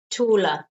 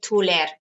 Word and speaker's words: taller: And notice that ER is pronounced with the schwa sound. So it's taller, not taller, no.